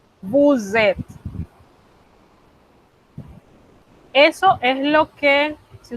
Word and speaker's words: vous êtes: Con vous, esa S que yo no pronunciaba cuando el pronombre estaba solito, no la voy a pronunciar, la voy a transformar en una Z. Y vamos a pegar ese verbo a la hora de hablar. Cuando lo escribimos, los escribimos separados. Pero cuando vamos a pronunciarlo, es como si fuese una sola palabra.